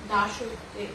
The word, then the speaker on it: দাসত্বে: বন্ধুরা, এখানে কয়েকটি শব্দ আছে, দেখো, রাজত্বে, দাসত্বে, এই শব্দগুলো কিন্তু ওকার যোগে উচ্চারণ করতে হবে। রাজত্বে, দাসত্বে।